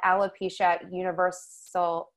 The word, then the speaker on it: alopecia universalis: This is called alopecia universalis. I believe that's how you pronounce it.